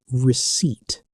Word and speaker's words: receipt: The important thing here is the letter P. It is completely silent. It is like a ghost letter. You do not hear it at all.